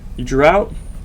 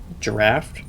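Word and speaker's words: draught: Drought, or I think it's actually pronounced giraffe.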